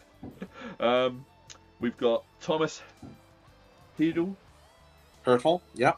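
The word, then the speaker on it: Hertl: we've got Thomas helel hurtle yeah a German hurtle is hurtle I should have know that yeah German pronunciations for football but uh he had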